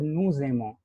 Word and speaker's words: nous aimons: In French, this is called liaison. You will just assume the word is like this, and you will pronounce as nous aimons. You will not pronounce nous and aimons differently.